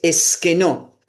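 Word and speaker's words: σκηνόω: Así esa palabra habitó del griego es esquenó. S k e n o acento en esa o y otra o es que no y significa y significa poner o levantar una tienda.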